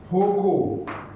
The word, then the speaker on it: Foucault: FOCO. F-O, बड़ी spelling नाम ये है.